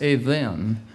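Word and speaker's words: eben: In Strong's, the name or the word stones is H68, spelled E-B-E-N, pronounced even.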